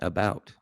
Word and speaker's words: about: You said that pretty good, like an American, about, right? Because it's pronounced about. It's not boot. It's not a boot.